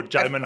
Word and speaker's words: Djimon: pronounce it. Djimon. Oh, Djimon Hounsou. Djimon.